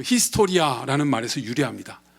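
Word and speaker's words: ἱστορία: 예 그리스 어의 그 히스토리아 라는 말에서 유리합니다 2 스토리 아라는 이 앤젤 헬라어 로드 그리스어로 쓰여진 얘긴데 발음은 히스토리아 맞습니다 2 히스토리아 의원 으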